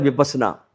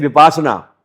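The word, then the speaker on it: विपस्सना: लोग कराते हैं विपसना। पहली बात तो लोग 90% इस शब्द का उपयोग ही बहुत गलत करते हैं। वो करते हैं विपासना। उच्चारण ही गलत है। इसका सही उच्चारण है विपसना।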